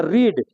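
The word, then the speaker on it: read: तो रीड, रीड मैंने होता है पढ़ना। रीड का दूसरा रूप रीडे रहता है और स्पेलिंग सेम रहेगा लेकिन उच्चारण बदल जाएगा। इसको पढ़ेंगे रीड और इसको पढ़ेंगे रेड।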